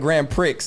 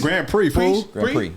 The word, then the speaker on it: Grand Prix: no we just laughing cuz you called it Grand Pricks and I've never oh p no Grand Prix Grand called Grand P off